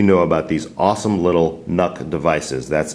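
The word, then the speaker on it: NUC: about these awesome little nook devices that's intel's next unit of computing pronounced luck but with an N Intel isn't only cover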